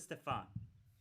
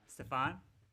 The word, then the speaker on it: Stefan: Is it all Stefan the- or is it Stefan? How is it pronounced, Flexi? The second way. Stefan?